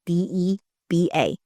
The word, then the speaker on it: Deba: My handle is at, just my name, like how you normally spell it. And the last name is Deba.